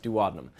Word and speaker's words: duodenum: of the small intestine called the duodenum sometimes pronounced duodenum but we've already taken